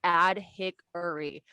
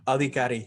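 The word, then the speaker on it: Adhikary: day how do you i know that's not how you pronounce it but how do you pronounce it you want the easy way to pronounce it is autocorrect that's the way i tell everyone to pronounce it because they can't say the real one alikari is everywhere the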